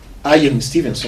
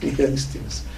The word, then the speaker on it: Ian Stevenson: Então, no livro que ele divulga, a pesquisa científica que ele faz, Ian Stevenson, né, seria a pronúncia em inglês correta, né? A gente, uma portuguesona, Ian Stevenson.